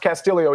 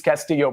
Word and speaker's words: Castillo: It's pronounced Castillo, even though it reads Castillo, by the way.